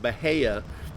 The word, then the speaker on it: Bahia: Some people may call it Bahia grass. That's kind of how it's spelled. But most people will pronounce it Bahia.